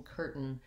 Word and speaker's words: curtain: for a stressed er the syllable stress in curtain is on the first syllable so cur is long and stressed and is short and unstressed so that's one way